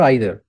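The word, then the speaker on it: either: Which one इज द right pronunciation, ईदर और आइदर? तो Cambridge dictionary में, Oxford dictionary में, हर जगह ये मेंशन्ड है कि आप दोनों में से कोई एक प्रोनाउंसिएशन यूज कर सकते हो। ईदर आइदर दोनों ही करेक्ट प्रोनाउंसिएशन है। ओके, ऑफिशियली मेंशन्ड है।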